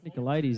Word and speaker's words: Nicolaidis: him a smiling assassin he's like nick ladies as it's spelt on his instagram handle and while we're at